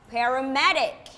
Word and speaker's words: paramedic: okay now listen again where is the stress paramedic paramedic on which syllable is the stress the first the second and the third syllable yes the third one paramedic okay so who is